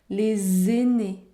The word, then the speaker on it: les aînés: les aînés les aînés la liaison est obligatoire vous devait prononcer le sont les aînés les aînés les aînés